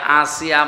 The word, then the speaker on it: আসিয়া: না, আইন সাদিয়া, আসিয়া শব্দের শাব্দিক অর্থ অবাধ্য, আর হামজা দিয়ে আসিয়া মানে বাধ্যগত বান্দি, সৌভাগ্যশালী। তাহলে আসিয়া না আসিয়া? হ্যাঁ, আসিয়া হামজা দিয়ে।